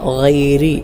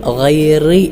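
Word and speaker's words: غير: ഗൈരി എന്ന പദത്തിലെ റായിനെ നേരിയതായ രൂപത്തിൽ അഥവാ ഗൈരി ഇങ്ങനെയാണ് ഉച്ചരിക്കേണ്ടത്. പലരും ഇവിടെ ഗൈറി എന്ന് ഉച്ചരിക്കാറുണ്ട്. അത് ശരിയായ രൂപത്തിലുള്ള ഉച്ചാരണമല്ല, ഗൈരി. മറ്റൊന്ന് അൽ മഗ്ദൂബി എന്ന പദത്തിലെ ലാദിനെയും വലദ്ദാല്ലീൻ എന്ന പദത്തിലെ ലാദിനെയും ലാദായി തന്നെ മൊഴിയണം.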